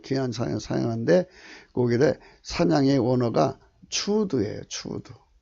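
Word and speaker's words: צוד: 귀한 사냥인데 거기에 사냥의 원어가 추드예요. 추드. 발음은 수드라고 하더라고요. 이분들은 이게 추인데, 이거는 이 T자 발음 안 하고 그냥 수드로, 수 발음으로 하더라고요.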